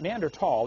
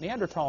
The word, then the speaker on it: Neanderthal: know the neander th neander tall the H is silent neander tall man is named after